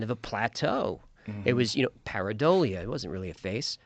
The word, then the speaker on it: pareidolia: Pareidolia.